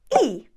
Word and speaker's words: y: is going to be e e means and the y in Spanish pronounced as e means and however if